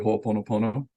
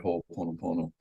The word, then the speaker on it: Ho'oponopono: Are you familiar with Ho'oponopono?